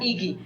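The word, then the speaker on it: Igy: It's I-G-Y. Pronounced Iki.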